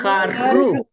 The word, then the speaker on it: carro: But please say that word carro properly because you have to tongue just like roll.